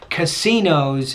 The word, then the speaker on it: casinos: what you've already said it's casinos so that's a word stress area if you need more